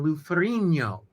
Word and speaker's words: Ferrigno: see the the gn the gn combination yeah in the italian language makes the sound like lasagna bologna filet mignon lou ferrigno should actually pronounce his name lou ferrigno gn combination and my my